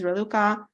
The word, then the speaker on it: Raluca: I want to introduce myself my name is reluca I know a very hard name to to pronounce but bear with me you can also